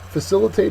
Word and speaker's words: facilitate: immigration to come in facilitate is next uh it's a verb second syllable is accented it means to make